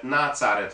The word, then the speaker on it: nácáret: sokszor sokféleképpen magyarázták már mivel a falu nevének harmadik- negik századi zsidó kiejtése nácáret volt bizonyosra vehetjük hogy a